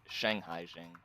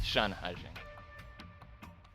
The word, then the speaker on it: Shanhaijing: I think I've always been pronouncing it Shanghai-jing, but it's Shanhaijing.